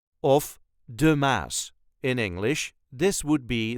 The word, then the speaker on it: Maas: be the Muse but this is the way us duchies say the mass the mass there is no emphasis the mass all the letters will be pronounced the mass I'm going